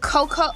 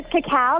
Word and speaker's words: cacao: And then you have the cocoa. Am I saying this right? Cocoa? Is that how you say it? Yeah. Oh, the cacao. It's a cacao scrub.